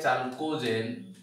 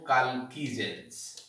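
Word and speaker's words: chalcogens: एमान को आउ कोन कहा जे, these are also called, collectively called कालकीजेंस, पोट लिखा जाए चालकोजेन, एको पढ़ा जाए कौन ओ कालकीजेंस, एमी तक प्रोनाउंस करा जाए।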